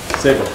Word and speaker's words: Sable: Sable? Sable.